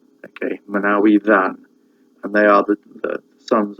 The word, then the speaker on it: Manawydan: So the double D in Manawydan is actually a TH sound, but it's a voiced TH, as in then, not thin, then. Okay, in Welsh, just a TH is a sound, but a double D is a sound.